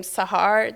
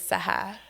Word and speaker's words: Sahar: So like even my name Sahar, that's how Americans pronounce it, but in Farsi, the exact translation is Sahar. Sahar. Sahar. Yeah, you got to roll your R's.